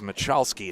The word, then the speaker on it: Machowski: the way one correction Nicholas machowski is the correct way to pronounce that name that was a great